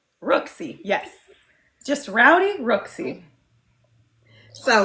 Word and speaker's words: Rooski: So it's Rooksy. Rooksy, yes.